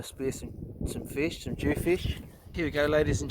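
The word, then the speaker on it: dhufish: is a this is a Western Australian jewfish which is spelled d-h-u fish how much chicken that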